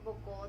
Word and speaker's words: 母校: 母校と読みます。